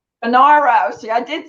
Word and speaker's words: Funaro: to pronounce them how is your last name pronounced it's uh banaro banaro see i did say it wrong okay fernaro